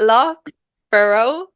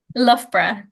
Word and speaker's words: Loughborough: Is it Loughborough? Loughborough. Loughborough. Okay, I Yeah, would but it's spelled never have Luga guessed.